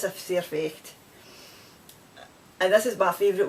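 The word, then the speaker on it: Sair fecht: saying and it's it's a c effect and it's spelt it's uh an s-a-i-r f-e-c-h-t it's a surfex and it means that's too bad that's life it's a surfeit and this is my favorite one and scotland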